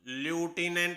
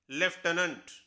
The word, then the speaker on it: lieutenant: Spelling है LIEUTENANT। अब ल्यूटिनेंट होना चाहिए, लेकिन इसकी सही प्रोनाउंसिएशन है लेफ्टिनेंट।